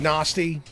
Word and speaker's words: Narstie: His name is spelled Narstie. Nasty. That's... Yeah, and I don't want to make it sound like I'm from like the North Midlands or whatever. R big nasty.